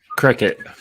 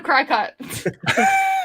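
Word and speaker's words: Cricut: I call it a crack cut I called it it is spelled it is spelled cry cut it is like it's called cricket and I'm like no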